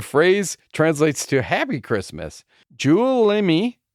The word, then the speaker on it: Juulimi: Juulimi, Jule is pronounced like Yule. Imi is pronounced like Imi.